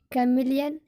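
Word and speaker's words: chameleon: लेकिन कुछ ऐसे शब्द हैं, सम एक्सेप्शन वर्ड्स, जहाँ पर रूल लागू नहीं होता और सी एच का उच्चारण च ना हो करके का होता है। जैसे कैमिलियन है ना, जैसे करिश्मेटिक।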